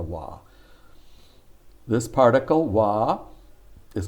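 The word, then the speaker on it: は: konichiwa with a wa even though it's pronounced with a wah this particle wah is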